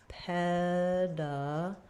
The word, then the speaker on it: pedagogy: So in pedagogy, we have the stress on the first syllable ped. So we'll have the stress marker, the vowel, peda. Letter A is going to be a schwa, unstressed. First letter G is going to be a g sound, like in go, pedaga. Letter O has secondary stress, so it's going to be the ah vowel. And then the second letter G is going to be the j sound, like in jump.